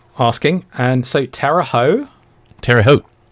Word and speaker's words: Terre Haute: Terre Haute. Rhymes with boat. Oh, okay. It's in Indiana of all places. So. Wow. The things you learn on a podcast like this, right? It's not Terre Haute and rhymes with boot.